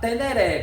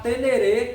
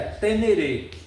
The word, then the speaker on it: Ténéré: essa essa esse peso de sempre falar teneré pelo nosso português e começar a falar tenerê, que é a o nome, a origem do nome, é como se se pronuncia o nome, certo? Então, a lógica do nome brasileiro é tener devido os assuntos, mas o a origem do nome, a pronúncia do nome verdadeira é tenereê.